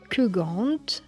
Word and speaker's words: Keugant: GW E N W E D et du Kugant qui s'écrit K E U G A N T c'est les trois mondes, c'est une division.